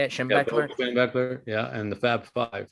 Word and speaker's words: Schembechler: Yeah, Schembechler, yeah, and the Fab Five, yeah, basketball Fab Five, team.